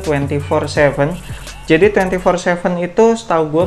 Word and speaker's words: Twenty47: twenty for 7 dan Kenapa gue cukup yakin cara bacanya tuh 2047 jadi 2047 itu Setahu